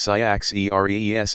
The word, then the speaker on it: Cyaxares: Their last two kings were Cyaxares and Astyages, pronounced Cyaxares, and Astyages, who are mentioned in the Babylonian chronicles.